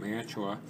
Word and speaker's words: Mantua: This is, you can see the name right there, this is an old Mantua, or Mantua, depending on how you pronounce it. I pronounce it Mantua.